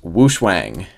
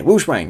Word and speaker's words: WuShuang: the new 5x5 the I believe pronounced woosh Wang see we got that right there Focus okay woosang yep we have Matt's